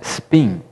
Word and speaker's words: spin: uma nomenclatura chama-se Spin eu pronunciei espin porque a a portuguê é a palavra mas o s é mudo em inglês se pronuncia Spin o Spin basicamente é